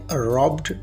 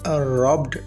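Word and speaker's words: robbed: रॉब की second form है रॉब्ड और इसकी थर्ड फॉर्म भी रॉब्ड है। आपने इसे रॉब्ड प्रोनाउंस करना है, रॉबिड नहीं, ये रॉब्ड है।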